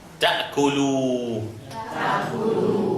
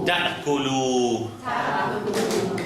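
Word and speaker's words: تأكلوا: This alif we don't pronounce it. Ta'kulu. Ta'kulu.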